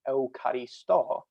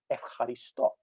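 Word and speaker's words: ευχαριστώ: sound changes over time, instead of being pronounced Eucharisto, it's now pronounced Evcharisto.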